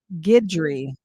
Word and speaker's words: Guidry: says occasion and then I would say gudry is pronounced Guidry ah okay well see